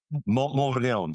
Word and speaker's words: Montmorillon: spell that. Montmorillon? Montmorillon.